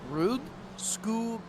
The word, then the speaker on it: Rudskogen: I believe it's Rudskogen. Rudskogen. Say it with me. Come on. Rudskogen. No. Rudskogen. No. Rudskogen, like school, like skoo. Rudskogen. Closer. We'll take it.